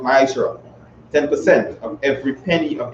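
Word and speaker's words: מעשר: Means tenth in the Hebrew and it's pronounced ma'ashra.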